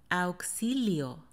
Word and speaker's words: auxilio: this world is just in their situations y pronounced likes auxi lío auxilio auxilio me acaban de robar me acaban de